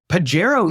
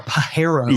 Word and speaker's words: Pajero: Pajero Evo for Yes. SUV. You guys So debated pronunciation of that. I am on the silent J tip. You're a Pajero.